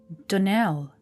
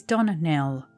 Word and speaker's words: Donnell: you pronounced our name Donell now Miss Shirley the correct pronunciation of our name is Donell Accent on the last syllable I hope you'll remember